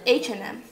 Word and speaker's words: H&M: Бірақ ана and деген сөздің D дегенін айтпасаңыз болады H&M. Чувствуешь разницу? H&M. Дұрысы H&M.